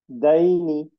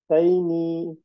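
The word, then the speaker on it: دين: দাইনি, থেমে গেলে। দাইনি, না না, দাইন।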